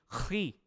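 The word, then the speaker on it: χ: do alfabeto grego, de Ki, ou, como eu disse, a pronúncia dele é de Ri. Esse som gutural, como um alemão falando, por exemplo, até mesmo a própria fala hebraica de muitas palavras hebraicas.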